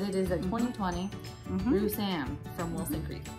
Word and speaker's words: Roussanne: So we are drinking this Wilson Creek Roussanne. Roussanne? Roussanne. How do you say it? Roussanne.